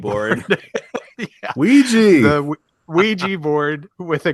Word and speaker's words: Ouija: Gather ra- gather round, everybody, and gather round the Wedgie wedgie board. Yeah. Ouija.